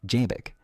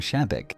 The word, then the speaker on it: Xebec: Ya que estamos hablando de nombres, recordemos que Roxec se pronuncia como Jek con un sonido de chiikitei como en japonés